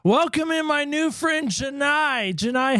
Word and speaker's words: Janai: Janai, welcome in. Do not say Janae. Do not say it. Don't say it that way. Janai.